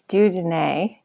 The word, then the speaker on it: Dieu Donné: organization you work for sure it's D Den it's a French name actually it means you know